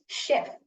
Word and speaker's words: chef: But correct pronunciation is ஷெஃப். ஷெஃப். ஷ் சத்தம் தான் வருதாங்க.